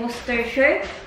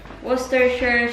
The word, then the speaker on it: Worcestershire: cayenne pepper Gangnam words was work how to pronounce it again Worcestershire Worcestershire sauce honey lemon juice and garlic powder so